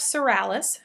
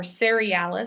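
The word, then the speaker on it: serialis: Okay, so multiceps cerealis, or cerealis, some people say, depending on if you pronounce that middle I, cerealis or cerealis.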